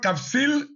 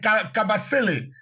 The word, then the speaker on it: Kabasele: Or, Kapsil, ça n'existe pas, c'est Kabasele. Kabasele. Kabasele, on trouve les Kabasele en RDC. Et donc, c'est une question de prononciation.